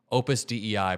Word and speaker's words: Opus Dei: thank you so much Opus Dei pronounced day is a Catholic cult